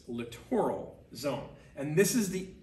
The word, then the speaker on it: littoral: this is called the littoral zone lit oral littoral don't pronounce it literal because you know that is a different word no one pronounces that literal it's littoral zone and this is